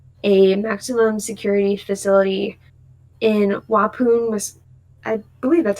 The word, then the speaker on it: Waupun: And then a maximum security facility in Waupun, I believe that's how it's pronounced, Waupun, Wisconsin.